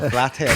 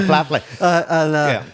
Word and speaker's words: Flatley: Because I know that the guy in charge of it, I can't pronounce his name right, so it'll come out all wrong. Michael Flatley. Michael Flathead, I call him. No, Michael Flatley.